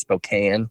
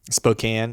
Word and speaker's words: Spokane: similar yeah to where you're at yeah it's pronounced spokane spokane okay what did i say spokane yeah spokane